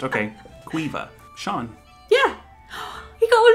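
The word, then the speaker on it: Seán: C-A-I-O-I-M-H-E, which none of those are pronounced. Okay. Queeva. Sean.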